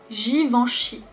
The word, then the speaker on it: Givenchy: Ensuite, nous avons Givenchy. Givenchy. Le G ici, il est suivi par un I, une voyelle. Donc ce n'est pas le son G, c'est le son je.